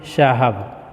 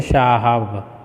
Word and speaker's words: साहब: है विषय ऐसी है साहब तो यहां बोलते हैं शहब तो ये गलत है ठीक है इसको उच्चारण